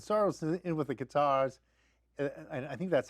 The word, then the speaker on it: Qatar: is in with the Qatars, I think that's how you pronounce it. That's not correct. like a guitar, but Qatar.